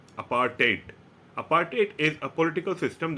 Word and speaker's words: apartheid: So this word, the first word you see here, apartheid, it is not apartheid, it is pronounced as apartheid. So in the end, it is like TAYT, apartheid.